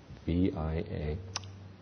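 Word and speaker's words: vīmaṃsā: And the fourth one, translated as discrimination or analysis, is vimamsa. V-I-M-A-M-S-A. And the second M has a dot over it, which means it's translated, it's pronounced like an NG.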